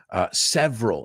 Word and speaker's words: several: Y es interesante porque si lo ves escrito several, pero no decimos esa sílaba por medio, right? So several, it has several, say it with me, say it aloud, several meanings.